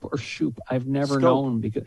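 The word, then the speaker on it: Schoop: a phonics lesson because he's not pronouncing his name the way it's spelled but the guy's batting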